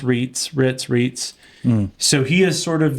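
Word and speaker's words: Reitz: You also have Aaron, and I think it's pronounced Ritz.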